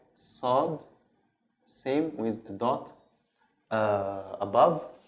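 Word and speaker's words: صاد: Okay, so the sod is pronounced like the sin, but a little bit from, you open your throat a little bit. So it's sod, sod.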